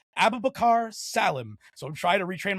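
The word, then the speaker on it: Abubakar Salim: I've been saying Abubakar Salem and I only recently heard him actually say his name and it's apparently pronounced Abubakar Salam.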